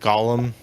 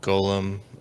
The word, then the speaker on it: Golem: of uh the Jewish mysticism concept of the gollum uh Golem um I I uh I'm fairly I've gotten